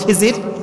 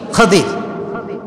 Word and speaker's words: খাদির: তার নাম কি খাদির আমরা বলি খিজির তবে এটার আসল উচ্চারণ হচ্ছে খাদিজির উচ্চারণটা আসলে কি খাদির খাজির মানে হচ্ছে সবুজ